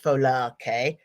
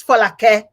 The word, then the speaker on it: Folake: Now, her name is Folake, and I better pronounce it properly because I am Nigerian. I won't do the English. Folake. Her name is Folake.